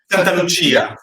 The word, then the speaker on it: Santalucia: Santalucia. Santalucia. Yes. Santalucia. The Italian pronunciation of CI is Chi. So it's Chia.